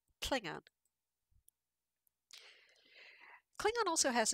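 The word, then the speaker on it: tlhIngan: So in Klingon, this sound tl is spelled TLH, and the word for Klingon is Klingon. You'll notice, by the way, that the I is uppercase.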